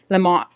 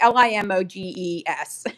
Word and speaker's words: Limoges: I can't even pronounce it. Limo. But anyway, Limoges.